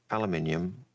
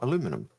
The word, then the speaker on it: aluminium: But their question was, that's like asking aluminium or aluminum. And I would normally say aluminium. So aluminium and aluminum are the two pronunciations.